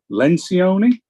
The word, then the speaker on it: Lencioni: you may be familiar with this by Patrick Lencioni I believe is the pronunciation of his last name I may have